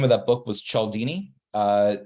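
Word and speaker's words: Cialdini: um the author's name of that book was chaldini uh it's it's spelled c-i-a-l-d-i-n-i okay that's c-i-a-l-d-i-n-i and the book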